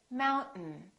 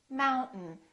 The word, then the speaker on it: mountain: m M we say mountain mountain this syllable is stressed therefore the second syllable is reduced and the vowel disappears so we say Mountain